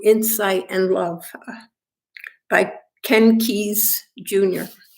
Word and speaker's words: Keyes: and Love by Ken Keyes Jr. Some people say his last name should be pronounced Kesey, but we'll just leave it at Keyes for this morning.